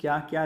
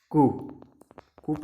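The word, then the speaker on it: coup: तो उन्होंने क्या किया, ज़बरदस्ती यहाँ पर म्यांमार को हड़प लिया। एक मिलिट्री कू आया, ठीक है, मिलिट्री कूप नहीं बोलिएगा, इसको कू बोलते हैं, मिलिट्री कू, पी साइलेंट रहता है इसमें।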